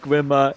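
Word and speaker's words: Grimer: know i could find the thought of grime or actually being pronounced grimmer incredibly amusing man cranky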